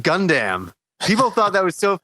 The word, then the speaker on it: Gundam: last life podcast we did when I said gun damn people thought that was so funny the way